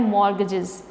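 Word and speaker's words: mortgages: rule है न mode यहां पर स्टीवर्ड साइलेंट है ठीक है आप लिख तो वैसे लिखोगे लेकिन जब हम इसको पढेंगे तो स्वेटर कैसे पढ़ना है मॉर्टगेजेस तो वह आज विड्थ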